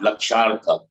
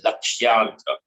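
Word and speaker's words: लक्ष्यार्थ: It is not Lakshartha. Don't do lazy pronunciation. Lakshyartha. Lakshya. Yakar. Lakshyartha.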